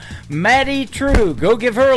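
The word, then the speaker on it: Madye Trew: It is M A D Y E on her first name and True is spelled T R E W. Matty True.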